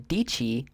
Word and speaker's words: Dietschy: into the search bar type Sarah and then dii rhymes with pachy d i e TS c h y she will be there and she yeah should be the very first result up there which makes sense dii is kind of an odd last name not